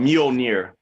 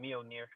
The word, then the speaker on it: Mjolnir: It's called Mjolnir. Yeah, I definitely didn't know how to pronounce it. Mjolnir.